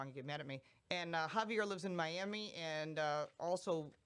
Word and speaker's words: Javier: Javier. Yes. Yeah, the J is silent.